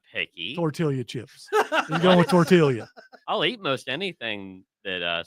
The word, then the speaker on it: tortilla: gonna make the L so you make the L silent where are you from